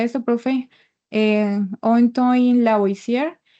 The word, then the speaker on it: Lavoisier: Como ven pues en la nota, esta ley fue establecida por bueno, cómo se pronuncia esto, profe? Antoine Lavoisier, y lo que Antoine, nos dice, bueno, Antoine.